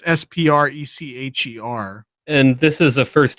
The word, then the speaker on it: Sprecher: Is it Sprecter soda that they're using? Yeah, I don't. It's SPRECHER.